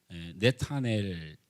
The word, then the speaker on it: 나다나엘: 그러니까에 네타넬 이렇게 원래 발음을 해야 되는데 이게 히브리시 발음이 네타넬인데 이걸 어 헬라 문화권에 유대 문화권의 시대가 지나면서 나다나엘 끝에 엘은 하나님이고 나다나 이렇게 번역을 한 거죠.